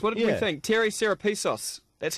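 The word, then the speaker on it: Serepisos: but the apprentice what do you think terry sarapisos that's how you say his name he's not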